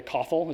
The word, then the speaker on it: koffel: the cloud authentication library koffel is because it rhymes with awful and it's a it's